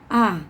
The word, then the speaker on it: are: Kemudian to be yang ketiga adalah a, ya. A, tulisannya are ya, bacanya a.